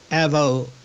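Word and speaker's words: AVEO: come back a question about Avo I guess that's how you pronounce it Avo Pharmaceuticals a-v-e-o uh just the the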